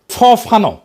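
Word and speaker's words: Fanon: ফরাসি আলজেরিয়ান চিন্তাবিদ ফানো ফানো নাম আসল উচ্চারণটা উনি বলছিলেন পরাধীন জাতিগোষ্ঠী লড়াইয়ের ভিতর দিয়ে নিজেকে চিনতে শেখে।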